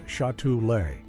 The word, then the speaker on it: Châtelet: the piece was titled After Châtelet, which is pronounced roughly as Chattoolay, and serves as one of the major transit hubs in central Paris.